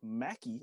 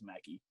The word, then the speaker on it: Maki: year old lemur named mackie i think is how you pronounce it's m-a-k-i i imagine that's mackie um and they picked